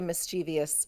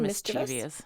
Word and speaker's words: mischievous: do you say it I've always said mischievous no I Say mischievous I give it an extra syllable to prove that I'm being tricky it'd be fun to write